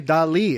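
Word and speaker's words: Dalí: Is Dolly or Dolly. Dolly? Is Some it people Dolly? say Dolly, some people say Dali. It's like how Dilly. if you say spaghetti, but Italians say it's spaghetti.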